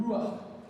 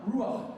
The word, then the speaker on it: ruach: And the word for spirit, very quickly, is this word called ruach. It's not on the screen, but it's spelled R-U-A-C-H.